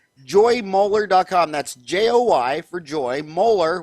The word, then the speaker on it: Moeller: That's Joy for Joy, Moeller, which sounds like the tooth molar, but it's spelled Moeller.